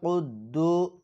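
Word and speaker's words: القدوس: ইল্লা আল মালিকুল কুদদু এখানে খেয়াল করেন এখানে সকলে বলবেন কুদ্দু অনেকে বলে কুদ্দু এখানে কিন্তু কুদ্দু হবে না এখানে হবে কুদদু কারণ কফ শব্দটি হচ্ছে কলকলার শব্দ আবার আল মালিকুল কুদ্দুস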